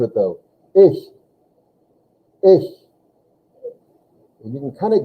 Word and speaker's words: ich: a little bit of raspy sound it though ish and you can kind of get it by